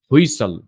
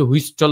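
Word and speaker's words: whistle: আপনাদের বলি এখানে যেমন এসটি যখন একসাথে থাকবে তখন টি এর উচ্চারণটা হবে না। টি সাইলেন্ট থাকবে। যেমন লিসেন হুইসল। তো আমি কি হুইস্টল বলছি লিস্টেন বলছি না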